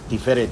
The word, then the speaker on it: תפארת: Under the influence of modern Israeli Hebrew, I'd pronounce that Metibta Tifereth Yerushalayim.